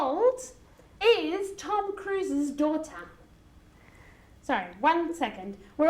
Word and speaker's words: Cruise's: no Tom Cruise okay cruise finishes with an S so with the sex and genitive it's cruises you have to add an extra syllable and again we go back to the same sound that many spent Spanish people and then it have three we do the zoo sound Tom Cruise's okay like the bean